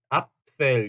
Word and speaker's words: Apfel: Apfel 앞 해놓고 fell 그러니까 앞 할 때 양 윗입술과 아랫입술이 앞 하고 붙어야 되고 fell 할 때는 F 때문에 윗니가 아랫입술에 붙어서 새는 소리 하고 새는 소리 있죠. 그래서 apfel, apfel 요렇게 소리가 난다.